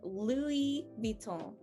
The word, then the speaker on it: Louis Vuitton: brand is italian so we will go lu we're gonna go really really um very i don't know i like to say it's very european uh but a lot of european accents are different uh but yeah you really want to mimic that that europeanness just think that you are italian think of pasta and you should be able to crack this one uh louis viton uh